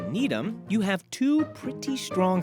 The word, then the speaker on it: Needham: To fix this situation is to basically take the less strong one and reduce it even more. So instead of Needham, to make it Needham, the difference between the